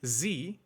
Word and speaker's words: Sie: When saying "Sie", which is the German formal version of saying you, he sharpens the S sound, when normally it sounds more like Z, z, unless you're from Switzerland or Austria.